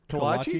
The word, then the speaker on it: kolache: I don't even know if I said it right. No, you said it right. Kolache is right.